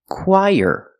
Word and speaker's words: choir: When we link the quai and the there's a sound in the middle that is Y. The sound Y like yellow. Y. Let's link the sounds. Qu y together. Choir. Put the stress on the first syllable. Choir. This word is pronounced choir.